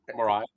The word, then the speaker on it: Mirai: It's a valid way to pronounce it. I usually say Marai.